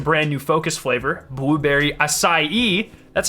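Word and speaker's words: açaí: just released a brand new focus flavor blueberry acai that's how you say that by the way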